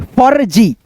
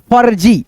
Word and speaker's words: फर्जी: जैसे देखो यहाँ पे फ, फिर रेफ की मात्रा का उच्चारण पहले ज से पहले, फ के बाद ज से पहले, फर्जी, फर्जी ऐसे करके।